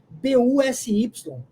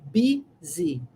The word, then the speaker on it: busy: Essa palavra é muito diferente porque ela escreve B-U-S-Y, mas pronuncia-se busy, busy, busy.